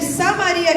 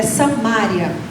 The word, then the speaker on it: Samaria: Veio uma mulher de Samaria tirar água e disse-lhe Jesus: "Dái-me de beber". A história dessa mulher é forte, né? E na verdade, eh, o certo pronunciar é Samria.